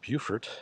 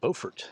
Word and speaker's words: Beaufort: places to visit and it's important not to confuse bufort South Carolina with bfort North Carolina both spelled exactly the same both on the coast uh so I appreciate that one town tries to pronounce it different than the other town so this is bufor